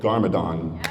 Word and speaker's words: Garmadon: You voice Lloyd Lloyd Garmadon. Am I pronouncing that right?